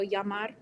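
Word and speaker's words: llamar: to do it and then Spanish we have the double L's um it's kind of like its own little like letter it's pretty common um that's kind of sounds like a y a little bit so yamar um and then the en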